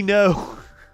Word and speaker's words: Ngo: was in seattle also andy any know by the way is how you say his name i just always say andy ngo i do i do little quirks like that andy no has been fired three